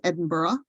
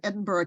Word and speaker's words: Edinburgh: in Scotland this is Edinburgh that is Edinburgh not Edinburgh um that's how they pronounce it um and it